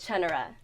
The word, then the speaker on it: Chenara: Chenara.